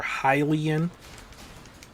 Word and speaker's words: Hylian: Like, I know it's Hyrule, and the people that live in Hyrule are Hylian.